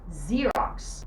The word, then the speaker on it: Xerox: طيب لو جت في الاول، لا، لو جت في الاول ليها نطق مختلف زي الكلمه دي xylophone، ز بتتنطق زي، xylophone xylophone or xerox xerox.